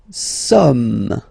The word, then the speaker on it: sommes: Nous sommes, okay. Nous sommes, okay. So you don't pronounce the final S here, it doesn't exist.